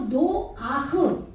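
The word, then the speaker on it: נֹחַ: 이 뒤에는 무조건 으를 붙여요. 히브리어는. 그래서 노아흐.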